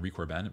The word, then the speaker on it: Corbin: who he is but Henry Corbin or Henry Corbin on record Ben probably is how you say it he was the